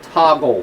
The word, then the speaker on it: toggle: Most people simply call this a toggle switch. Toggle rhymes with goggle.